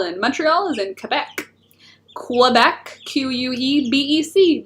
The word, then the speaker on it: Quebec: Quebec, Q-U-E-B-E-C, but for Canadians it's Quebec, like K-E-B-E-K, Quebec. That's how we pronounce it.